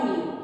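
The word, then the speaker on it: know: अब बेटे देखिए फर्स्ट वर्ड देखिए न्यू और न्यू। हम इसको कन्यू रीड नहीं करते हैं, हम इसको रीड करते हैं न्यू। के इज साइलेंट।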